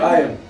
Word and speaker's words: Aion: Is the name, do I pronounce it right? Yeah, Aion? Aion, absolutely.